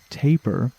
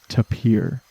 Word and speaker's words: tapir: address the name to some resources say that it can rhyme with paper meaning that tapir could be pronounced taper depending on which part of the world you are from but for this episode I am going to be saying to pier and these little guys